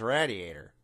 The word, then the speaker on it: radiator: pigeons roasting on his radiator. I'm sorry, did you say radiator? Wasn't that the radiator of the car? Radiator. Raid, not rad.